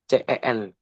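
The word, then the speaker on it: zehn: uncanci jadi begitu penyebutan z e h n dibaca Cen c e n dibacanya seperti itu guys dan untuk yang 20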